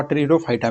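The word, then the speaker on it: Pteridophyta: तो जो फंस आता है दोस्तों पौधा के, वह ट्रीडोफाइटा में आता है, ट्रीडोफाइटा में, जिसका दोस्तों पी आपका साइलेंट रहता है।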